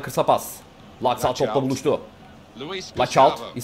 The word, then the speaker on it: Laxalt: Laxalt. Bak öyle okunuyormuş bu arada. Onu da yine öyle. Laxalt.